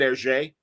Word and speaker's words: Hergé: but the backstory of, am I saying it right, Hergé, the creator? Yep.